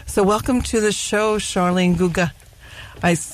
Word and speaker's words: Charline Guegan: So welcome to the show, Charline Guegan. I pronounced it correctly, correct?